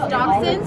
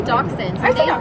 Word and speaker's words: dachshund: Like wiener dogs, dachshunds, which we say dachshunds.